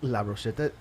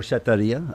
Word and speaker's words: Brochetteria: La Brocheta. Uh-huh. Oh, it's Dia at the end. Brochetteria.